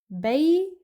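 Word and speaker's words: بيتك: So again, for a male, what we do, we place Fath'a at the end of Bayt, and then we pronounce Kaf without any vowel, so the word becomes Baytak.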